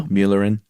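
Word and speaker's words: Mälaren: gonna do it wrong my laryn there you go muellerin yeah because there's a umlaut that's right but he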